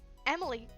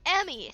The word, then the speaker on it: Emi: Emily, Jesus fucking Christ, Miki, stop. Emmy sticks out her tongue again because this is Emmy and her name is spelled E-M-I. There's no L.